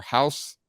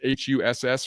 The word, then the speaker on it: Haas: Haas Hejny, if I pronounce that right, or House, it's Huss from Aledo, Texas, former Duke commit.